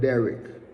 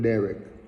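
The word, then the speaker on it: דרך: Look at the word "way" here, because "way" is the Hebrew word "derek." Derek, like I said, D-E-H-R-E-K. That's the English pronunciation of that, but the Hebrew is Dalet, Resh, and Kaf.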